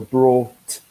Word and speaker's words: brought: Okay, it's very important to emphasize the T at the end. So brought.